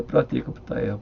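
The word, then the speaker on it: प्रत्येकबुद्ध: 그러니까 Y자는 비음이고, 그러니까 발음 때문에 원래 프라티에까부타예요.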